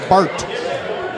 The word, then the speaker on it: Bart: and sweet it is Bart Bart Bart can you spell it b-a-r-t Farm okay just like Bart Simpson whoa but not Bart